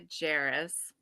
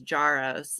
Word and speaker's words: Jaros: get that a lot it's jeris jarus but I have to say that my brother actually pronounces it differently he says jaros so oh it's kind